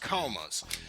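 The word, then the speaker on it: koma: call these things panels even though they're pronounced Comas and the different Comas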